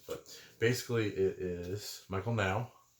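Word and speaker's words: Nau: There's a bunch of different things, but basically it is Michael Now. I think that's how you say it, N-A-U, Michael Now, and his wife, Whitney McGraw.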